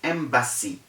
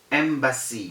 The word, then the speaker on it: embassy: the correct pronunciation is embassy embassy because the s's are two and when the s's are two there is no z sound okay except in a